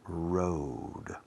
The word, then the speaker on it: road: La OA, el sonido fonético es OU. Por ejemplo, abrigo. Abrigo se escribe coat. Se pronuncia coat. Como si fuera OU, no OA. Coat.